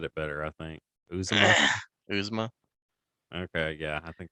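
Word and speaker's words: Uzomah: But when did Azuma is it Azuma? Bengals tied in. Uzma, yeah. Okay, you said it better, I think. Uzuma.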